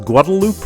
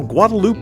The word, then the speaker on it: Guadalupe: You're thinking that's pronounced Guadalupe, but you know, Guadalupe is kind of an Austin thing. Most people here just pronounce it Guadalupe.